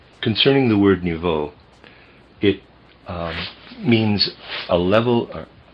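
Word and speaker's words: niveau: The word I'm pronouncing or trying to pronounce there is n i v e au. I'm pronouncing it nu. Concerning the word nuvo, it um means a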